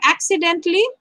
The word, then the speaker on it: accidentally: over here a letter word silent a okay accidentally can you say the word accidentally accidentally yes you know what this a the letter a accidentally we see but this a has